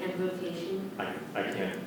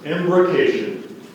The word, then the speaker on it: embrocation: Like embrocation? I can't tell you what's correct or not. I can repeat the word if you like. Again, the principal pronunciation is embrocation, and the alternate is embrocation.